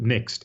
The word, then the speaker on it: NeXT: And interestingly, the very first violation was, I think it would be pronounced NEXT, but it's a NE and then uppercase XT, Yes.